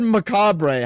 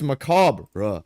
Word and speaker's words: macabre: bastards I said macabre how I saw it and then people were like macabra. I asked how do I pronounce it? This guy says macabra. Short a and short e. Macabra. I think that's how he's saying it. Also incorrect. It's macabra. Silent ru. The roar at the end is nearly silent.